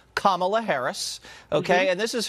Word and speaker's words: Kamala: Kamala Harris so now we know how to pronounce her name Kamala Harris okay and this is her talking to